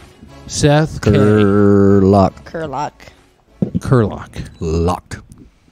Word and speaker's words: Kiriluk: how do you say your last name Seth curlock Seth Curry luck kerlock luck it's a lock y'all and Ang is